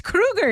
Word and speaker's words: Kroeger: Chad Kroeger says his name is pronounced like movie killer Freddy Krueger. Yeah, we've been saying Chad Kroeger's name wrong. It's Krueger, he says.